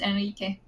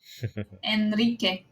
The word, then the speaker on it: Henrique: By the way, it's pronounced Enrique. Henrique? Enrique. How tall am I? The H should be silent if I'm about it's 171 like Spanish.